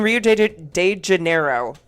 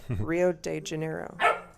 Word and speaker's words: Rio de Janeiro: Okay, and so Sabina, who is Kay Stewart, so in Rio de Janeiro. How do you say it? Rio de Janeiro. Janeiro. Janeiro. That's not how they say it. It's J-E, so Janeiro, yes.